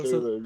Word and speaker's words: Cthulhu: But I think it's called Cthulhu. So like the C is a hard K Cthulhu? sound. Yeah, Cthulhu. Yeah, Okay. Cthulhu. So yeah. So Cthulhu, yeah.